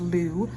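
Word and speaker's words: Lugh: l u g h the that God is pronounced Lou um but honestly I'm not not super great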